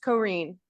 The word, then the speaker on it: Corinne: And just one thing with Corinne, the spelling of her name is Corinne Duncan, and it's pronounced Corinne.